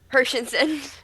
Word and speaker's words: Hershenson: and my my guest Shanti Hers last name pronunciation Hersen.